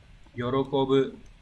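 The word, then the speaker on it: 喜ぶ: Câu 4 chúng ta có chữ đây là chữ hỷ, chữ này sẽ đọc là yorokobu.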